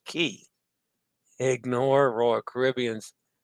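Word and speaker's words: Cay: Everything else is Key. K and Quay is always pronounced Key.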